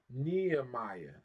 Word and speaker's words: Nehemiah: book of NE Nehemiah Nehemiah that's how we said in English Nehemiah NE right which